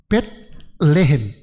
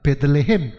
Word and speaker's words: 베들레헴: 레헴이라는 것은 빵이고 벳이라는 것은 집이니까 벳레헴. 그게 발음이 어려우니까 베들레헴. 우리말 성경 그렇게 쓴 겁니다.